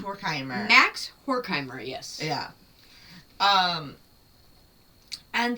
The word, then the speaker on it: Horkheimer: I do believe it's pronounced Horkheimer.